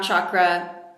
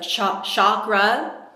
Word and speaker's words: chakra: So, it's important to actually make a conscious effort to pronounce it properly and not just say chakra like it would be an sh.